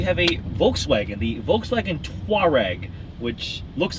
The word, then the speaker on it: Touareg: I drive the Touareg. Yeah. Touareg. There you go. Two distinct syllables.